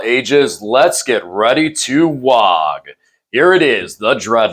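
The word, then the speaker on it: Waaagh: This is an Did you just pronounce the G in WA? Isn't it? Isn't it WOG? I think everybody pronounces it without the G. It's WA. See, I think that's how people say it. You're some kind of noob if you say WOG.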